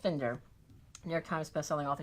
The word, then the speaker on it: Finder: So there are already some cool quotes in, but Joseph Finder, looks like his name is Finder, but it's Finder, pronounced Finder.